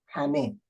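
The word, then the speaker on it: همه: This word means all, is in Persian hame. The first he is pronounced ha, and the second not, hame.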